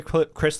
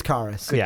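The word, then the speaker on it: Caris: man there's no way Chris Levert would or carus Levert I can't say his name did did I say Chris L it's carus God see we got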